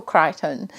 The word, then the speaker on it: Crichton: So this is Michael Crichton. Yeah, so I'll see how the other 2 books that I've ordered, how they are, and if I like them. I think Michael Crichton is going to be one of the authors